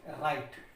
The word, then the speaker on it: write: WRITE, इसको पढ़ेंगे राइट। क्या पढ़ेंगे? राइट यानी कि लिखना। तो यहाँ पर W अपनी साउंड नहीं दे रहा है।